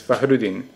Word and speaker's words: Fahrudin: Like, there's the American way of saying it, and then there's the correct ethnic way. So the correct real way to say is Fahrudin.